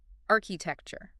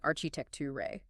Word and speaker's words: architecture: But in English, the end of that word is lazy. It's a soft ch sound.